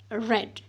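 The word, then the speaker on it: read: ऑफ the verb, क्योंकि जो spelling की सेम है लेकिन पढ़ने में इसको रेड पढ़ा जाता है.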